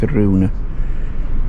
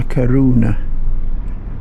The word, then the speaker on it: Coruña: I think the proper pronunciation is Coruña, but as you can see, that's where we were, but this is the port.